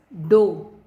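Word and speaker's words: dough: The right is डो. ड में ओ की मात्रा और छोटा सा ह, डो.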